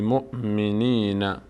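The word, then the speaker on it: مؤمنين: هم ب هم ب هم ب مؤ هم حمزه ساکنه اینجا حمزه خونده میشه واو هیچ نقش‌ای نداره واو گفتیم یکی از حالت‌هایی که واو خوانده میشد وقتی بود که روش حمزه قرار بگیره اون حمزه خونده میشه باب اینجا خونده نمیشه بی مؤمن مؤمن مؤمن نین بی نین بی نین بی مؤمنین اینجا نون کسره داره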